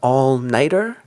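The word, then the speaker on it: all-nighter: to pull an allnighter in this expression we don't really get a t sound when we just say the noun night T by itself we get a strong T very crisp t sound but here when we add the e r it we get more of a D sound and all nighter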